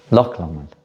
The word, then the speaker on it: Loch Lomond: How do you pronounce it? What's that, Lake Lomond? Lake Lomond. Loch Lomond.